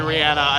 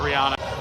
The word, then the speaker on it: Rihanna: Um I'm saying Rihanna because I saw an interview with her where she said that that is how you pronounce her name.